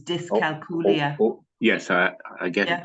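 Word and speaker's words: dyscalculia: l i a so think dyslexia this is dis culia yes I I get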